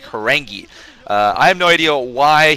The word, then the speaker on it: Horang2: Evidently, somebody told me that that 2 stands for 2 E's. You can pronounce it like Horangi.